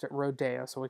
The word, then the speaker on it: Rodeo: The Rodeo, we call it Rodeo in Texas, but he pronounced it Rodeo, so we call it Rodeo.